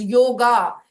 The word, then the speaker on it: योग: what does the word योग mean ना the word योग व is people miss pronounce it एज योगा इट इज नॉट योगा इट इज योग so without A uh sound and योग word comes